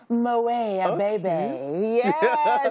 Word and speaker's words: Moet Abebe: the name that tt loves you want to pronounce her name it's moay a baby she is a brand influencer on her personality